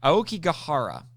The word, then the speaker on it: Aokigahara: The subtitle is called Aoki Forest, but the proper way to say it, and next time I watch the movie, I'm going to pay attention to see if this is actually how they say it in the Japanese, but it's Aokigahara.